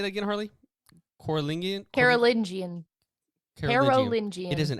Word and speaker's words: Carolingian: Carolingian.